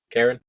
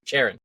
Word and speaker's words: Charon: I like Alex's theory that it's can you pronounce it again for me? Karen? Sure. Sharon.